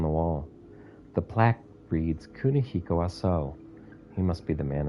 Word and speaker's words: Kunihiko Aso: The plaque reads, Kunihiko Aso. He must be the man in the picture. His the last syllable of his name is long. But they don't show it in this.